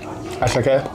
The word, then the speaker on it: attiéké: It's called attiéké. Attiéké? Attiéké. The concept. There you go. That's how I pronounce it like in my in my language.